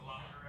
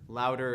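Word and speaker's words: Loudr: But are you familiar with Louder at all?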